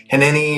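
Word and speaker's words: Hineni: It's henni or hen. H I N E N I think is how it's spelled, but it's a Hebrew word that was used a few times in the Bible.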